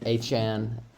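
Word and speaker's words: Achane: to 20 against the Denver Broncos Devon aan Anan as he wants it to be pronounced had I think he had four touchdowns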